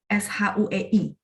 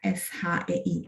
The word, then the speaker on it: 谁: Bacanya sih SHUEI, atau bacanya SHEI, shui. Nah, ada 2 juga, ya. Jadi huruf ini bisa dibaca shui, dibaca shui, 都可以, dua-duanya boleh ya.